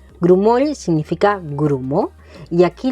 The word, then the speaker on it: grumoll: Luego tenemos la palabra grumoll. Grumo significa grumo. Y aquí la dificultad está en el sonido de la al final de palabra grumoll. No grumol, no grumoi, grumoy, y grumoy.